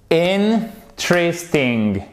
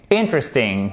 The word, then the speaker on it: interesting: Donc, ça nous donne, avec un accent tonique qui est là, interesting, interesting, ok?